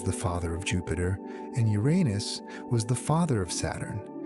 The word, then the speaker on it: Uranus: Astronomers prefer the stress on the first syllable largely because the alternative sounds like something else and both are formally acceptable.